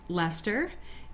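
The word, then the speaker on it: Leicester: she has BFL for blue faced Lester and it's spelled le IC es ter we have some in the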